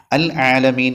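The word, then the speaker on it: العالمين: പദം നമ്മൾ നല്ലോണം ശ്രദ്ധിക്കണം അൽ ആലമീൻ എന്നുള്ള പദം ഉച്ചരിക്കുന്ന സമയത്ത് ഐന് വെളിവാകണം റബ്ബിൽ ആലമീൻ ലാമിന് സുക്കൂന് ഒഴിഞ്ഞ് പിന്നീടാണ് ഐന് പറയേണ്ടത് പല ആളുകളുടെയും കിറാഅത്തിൽ ശ്രദ്ധിച്ച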